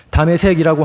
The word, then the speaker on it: 다메섹: 현재 시리아의 한 도시입니다 다메섹이라고 하는 것은 그 다마스커스라는 것을 히브리식 발음으로 다메섹이라고 기록한 겁니다 또이 다메섹은 구약에 나타나는